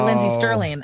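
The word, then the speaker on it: Lindsey Stirling: Make sure I say Lindsay Sterling.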